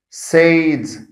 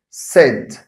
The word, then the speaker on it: said: pronounce it as said sayed and it's not right because the sound here is short again the sound here is short eh so i must pronounce it like that said said not so the